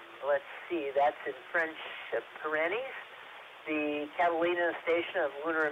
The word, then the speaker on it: Pyrenees: I believe it should be Pyrenees rather than whatever you said for the location of the observatory.